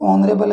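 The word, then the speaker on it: honorable: यहाँ पर for example यानी एग्जाम्पल के लिए आपको पर्सन वर्ड लगा कर दिया है, बाकी नॉर्मली देखें तो ऑनरेबल है या फिर आपका ऑनेस्ट है, दोनों के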